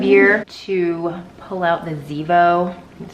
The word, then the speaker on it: Zevo: I think it's that time of year to pull out the Zevo. That's how you pronounce it.